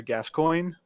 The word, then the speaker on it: Gascoigne: I guess one of the iconic boss battles from this game is that you're fighting this guy named Father Gascoigne.